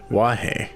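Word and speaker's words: 和: for peace when written which is pronounced as wah when it means peace but it's kazah when it's for names why is this like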